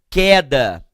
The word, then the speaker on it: queda: E aqui o U. Com certeza, porque eu não falo que eu tive uma queda, e sim eu tive uma queda. Então o som é de K, tá certo?